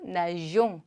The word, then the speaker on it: nageons: 가는데 누가 올 때 만약에 의가 없으면 nous nagons이 되겠죠? 그러면 안 돼. 그러니까 발음을 똑같이 만들어주기 위해서 을을 넣어준다. nous nageons, 우리는 수영한다.